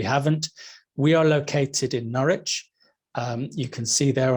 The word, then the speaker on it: Norwich: there on the map it's built with the w in the middle of it but you don't need to pronounce that w it's just pronounced norwich uh if you follow